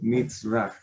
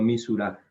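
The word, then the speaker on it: מִזְרָחָה: O sea, la forma correcta es Mitzrah, no Misurah, ¿listo?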